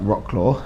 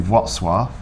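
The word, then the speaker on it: Wrocław: Um, even though on paper it looks like Rockclaw, which we didn't, but you do not say it how it's spelled. It's very British of us. Yeah, it's called Vatswaf, but it is beautiful.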